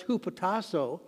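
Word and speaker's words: ὑποτάσσω: should submit the greek word for submit is pronounced who potasso and at the heart of that word is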